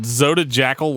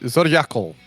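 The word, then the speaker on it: Zodijackyl: Is it Zoda Jackal Light? No, Zodiacal. Okay. The J is not a J sound.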